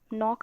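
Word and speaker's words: knock: नॉक को भी हम नॉक कहते हैं जब तो के साइलेंट हो जाता है।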